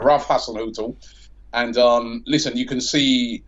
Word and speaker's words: Hasenhüttl: Pronounce it first. Hasenhüttl. Yeah, right. Ralph Hasenhüttl.